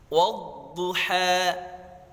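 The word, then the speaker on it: والضحى: Wadduha. Wadduha. Pangkal lidah naik ke langit-langit. Jangan bacanya wadduha, waddu. Jangan seperti itu. Wad harus diangkat.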